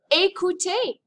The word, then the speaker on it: écouter: But when you see it with an accent aigu, it makes an A sound, as in the word écouter.